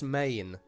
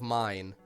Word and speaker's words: mein: Because I'm pretty sure he kept pronouncing it as main instead of mine.